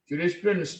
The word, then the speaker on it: jurisprudence: Jurisprudence in English is a study of law. But in France, the same spelling but different pronunciation. Jurisprudence, jurisprudence en français, jurisprudence in France is case law in English.